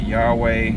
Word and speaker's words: Yahweh: I am was God's name in English we pronounce it Yahweh some people in the past have have pronounced